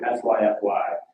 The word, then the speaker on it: Syfy: name so in 2009 it changed the spelling to a new word that is pronounced the same we had a few